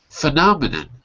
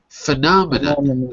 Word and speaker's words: phenomenon: It's a weak syllable. So instead of the o, it's going to be more like an uh phenomenon.